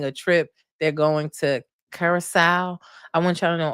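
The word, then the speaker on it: Curaçao: We already know that Ray J crashed out in Curacao. Look at me pronouncing it correctly.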